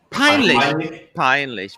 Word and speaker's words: peinlich: Peinlich.